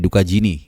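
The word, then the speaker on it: Dukagjini: gue tulis mungkin, dan pembacaannya juga mirip-mirip ya, Duka Jini gitu, kayak Dukanya si Jini, Duka Jini gitu. Jadi G-nya itu agak hilang ya, gue coba tadi cek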